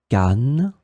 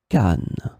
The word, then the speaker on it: canne: In this lesson, we will see together two words that are written differently but pronounced the same way. Canne, canne.